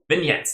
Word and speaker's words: vignettes: Vignettes. That's it. That's how to pronounce it.